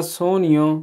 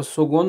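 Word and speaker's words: sogno: आगे जी number 3 ईओ ना सोनियो, मेरा एक ख्वाब है, ठीक है। सोनियो बोलते हैं जी ख्वाब को, सुगुन नहीं पढ़ देना क्यों, ये जी है, ये साइलेंट है, ठीक है।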